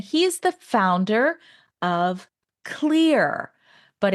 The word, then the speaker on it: Xlear: is the founder of Clear, but it's spelled X L E A R. I always used to pronounce it Xclear. So now we know how to pronounce it. It's pronounced clear.